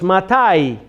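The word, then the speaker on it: מתי: So it's matai. That's not to be confused with mati or mati.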